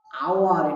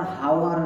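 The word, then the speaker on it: hour: এটা উচ্চারণ কি এইচ ও ইউ আর, আওয়ার, এটা কিন্তু আর হাওয়ার না, এটা আওয়ার, আ, আওয়ার, আ, অর্থাৎ ব্যঞ্জন ধ্বনি নয় এটা, এটা স্বরধ্বনি।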